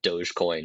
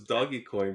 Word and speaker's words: Dogecoin: possibly lose to to Dogecoin or something like that that's how you pronounce it I thought it was doggy coin but boy I feel